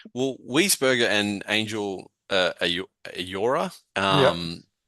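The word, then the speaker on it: Ángel: As a Spanish as a honorary Spanish person this week, Angel is the pronunciation.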